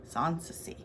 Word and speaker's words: Sanssouci: Yeah, and it's pronounced Sanssouci. Sanssouci.